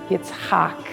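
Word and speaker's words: Yitzchak: Yetsak is actually the correct pronunciation will walk out of Shul that day as his own Jewish man.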